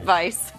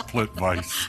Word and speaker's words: Plitvice: Plitvice. That's in Croatia, guys. That's Plitvice.